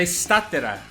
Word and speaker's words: Statera: Hoje, hoje nós vamos falar com o pessoal da estatera. Estatera ou estátera? Tem algum uma forma correta de pronunciar? Estou pronunciando errado. É estátera.